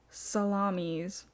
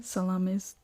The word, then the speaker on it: Salamis: Acting on this interpretation, the Athenians focused on naval defense during the subsequent battle of Salamis. That's not what that says, but Salam. Salamis. It's spelled Salamis.